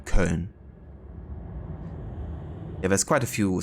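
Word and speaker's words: Köln: and yeah it is it's called cologne in English but in German it would be cone yeah there's quite a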